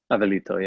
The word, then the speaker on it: Avelito: yeah, and again, how do you pronounce? Is Abel, but then it's Abelito. Avelito, yeah.